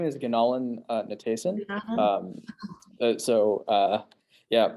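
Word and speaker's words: Gunalan: right my name is ganalan natason so uh yeah hopefully it's just pronounced gonolin uh if you're worried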